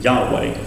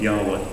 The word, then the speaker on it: Yahweh: No one really knows exactly how it would have been pronounced in ancient times, but it's generally believed to have been something akin to Yahweh. That's how it tends to be pronounced today.